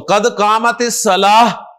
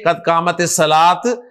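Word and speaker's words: قد قامت الصلاة: तो कद कामत सलाह, हा के साथ प्रोनाउंस करें, कद कामत सलाह, ना के कद कामत सलात, कद कामत सलात।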